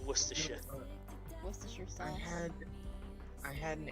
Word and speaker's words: Worcestershire: Yeah, if you were to read it, it would say Gloucester Shire, but we pronounce it Gloucestershire, just like Worcestershire.